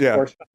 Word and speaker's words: Porsche: Depends on who that's not how you pronounce it. It's Porsche. Yeah.